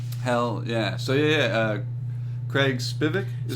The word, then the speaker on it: Spivek: it wasn't something hell yeah so yeah Craig Spivak you say that's me how it's pronounced yeah comic you're trying absolutely trying no